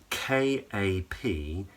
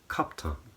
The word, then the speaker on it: kaptan: And she revealed that in Turkish, it's spelt K-A-P-T-A-N. So the C at the beginning is a K, the A-I is just an A in the second syllable, and then there's an N at the end. But in Turkish, she would say kaptan, kaptan.